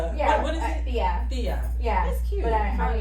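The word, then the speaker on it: tía: Thea.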